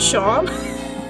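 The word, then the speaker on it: Seam: you know it's spelled like C but it's pronounced Shawn that's I think let's say this person's talking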